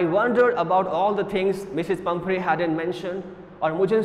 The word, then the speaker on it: Pumphrey: The pronunciation of the given word is Mrs. Pumphrey, Mrs.